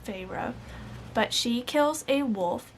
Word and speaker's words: Feyre: I always pronounce it in my head as Fair, but I think it's Feyre.